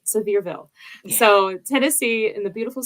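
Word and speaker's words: Sevierville: so please forgive me severville res residence but severville Seville um so that's not how I was saying it but that's that's how it's pronounced I'm sorry and now you'll remember it sville so Tennessee in the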